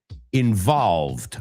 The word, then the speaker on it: involved: And another word that I've heard mispronounced a lot too, involved. Acuérdate, la V. Yo sé que en español no distinguís.